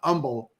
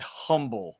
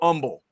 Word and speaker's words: Humble: humble you got a the H is silent Umble is the way I've always heard it am I getting that right Chad like yes I've never heard anybody from there call it humble right yeah you gotta